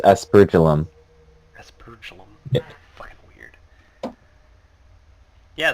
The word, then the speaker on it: aspergillum: it is pronounced aspergillum.